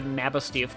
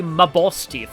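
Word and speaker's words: Mabosstiff: boss if's cry line pronounced the NABA stiff but like I personally think it's supposed to be my boss stiff because like my boss but yeah you know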